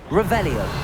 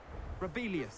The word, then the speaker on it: Revelio: Revelio. Rebellious.